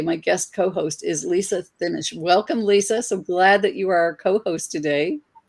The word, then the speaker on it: Thimmesch: No, it's Thimmesch. There's a lot of silent letters in it.